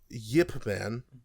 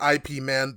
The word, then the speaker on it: Ip Man: It's IP Man, but it's Ip Man or Yip Man, depending on who you ask. I've seen it be categorized as Yip Man, but it is pronounced like Ip or Yip, so Interesting.